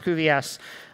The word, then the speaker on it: cuVS: dedicated library that we call CVS that's pronounced CVS uh the Cuda Vector